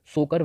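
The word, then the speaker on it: Tso Kar: फिर है ये टी यहाँ पे साइलेंट है, इसको बोलेंगे सोकर वेटलैंड कॉम्प्लेक्स।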